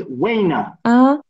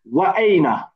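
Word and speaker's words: وأين: So it's like you ignored this hamza here. You ignored it, okay? Which we can't do because it's a hamza. It's called hamzatul qata. Okay, we have to pronounce it. So it's incorrect to say wayna. We have to say wa'ayna.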